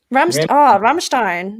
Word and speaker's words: Rammstein: Rammstein. Yeah, sehr gut. Yeah. Oh God. I have the American accent. I can't pronounce them.